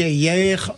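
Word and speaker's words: Hayer: J'ai été rassuré, Valérie Ayer l'a rejointe. On prononce Ayer, a priori.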